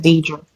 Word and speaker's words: Dedra: Dedra. Can you hear me? Yeah. Hear me? You said it right the first time when you first said it's Dedra.